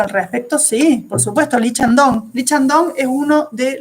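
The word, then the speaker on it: 이창동: Y los personajes de Lee Chang-dong, así se pronuncia en coreano, se escribe Lee, ¿sí?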